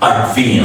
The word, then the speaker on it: advanced: So it's advanced. You don't say advanced, advanced, all right? No, advanced. So the first A is reduced, advanced.